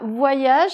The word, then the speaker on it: voyage: Le problème, c'est que c'est ce O avec ce Y, là, ça pose des problèmes. Donc voilà comment on doit faire, comme la voix.